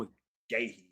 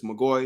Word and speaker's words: McGahee: for USC, and Bryn McGahee for Washington. She balled out for sure, even though it's McGoy and I said her name wrong.